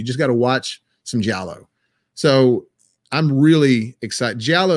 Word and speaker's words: giallo: describe it you just got to watch some jello so i'm really excited giallo is spelled g-i-a-l-l-o or l-o but it's g-i-a-l-o that's basically italian horror film italian slashers and the in the formula for the jello films it's a there's normally something going on